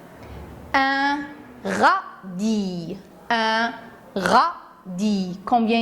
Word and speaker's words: radis: Bien sûr, encore pour une autre fois, le S est écrit dans le mot, mais on ne le prononce pas.